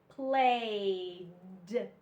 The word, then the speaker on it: played: This one only sounds like a D. The E is silent. Okay, so you don't hear the E, you only hear the D. D in played, played.